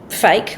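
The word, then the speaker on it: PHEIC: So the acronym is P H E I C, but phonetically you'd read it as fake.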